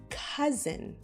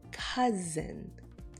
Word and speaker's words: cousin: Here's another word, cousin. I know it doesn't look like the word cousin, but that's how we pronounce it, cousin.